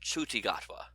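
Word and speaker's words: Ncuti Gatwa: coming back also the new doctor's name is pronounced chuchigatwa okay we and I found out how to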